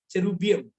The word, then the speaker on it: cherubim: बिल्कुल वैसे ही चेरूब और चेरूबियम, चेरूबियम CHERUBIM। अगर प्रशांत हमें ज्वाइन कर रहा है, आपके बैंड का नाम है चेरूबियम। सो चेरूबियम। ठीक है प्रशांत, हम लोग कल तुम्हारे बारे में बात करेंगे, चेरूबियम।